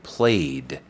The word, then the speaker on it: played: En pasado yo jugué, sería I played. Okay. A diferencia de worked, donde la ed tiene el sonido de una t, al final, esta forma suena más como una d, que es como una dil.